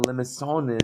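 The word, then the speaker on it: limaçon: And there's my soft C. So notice how close the limacon is to a cardioid, right?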